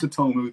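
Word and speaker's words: Tsutomu: It's Satomu, it's a silent T, Satomu Miyazaki.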